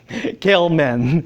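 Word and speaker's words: Gell-Mann: the success of oh I learned how to pronounce his name um gale man success of galeman in predicting existence of this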